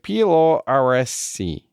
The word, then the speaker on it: Pilluaritsi: And Pilluaritsi is pronounced like Pilluaritsi.